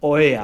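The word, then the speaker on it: Oia: I guess like you said is the crowds Oya I think is it's pronounced is is the popular side on the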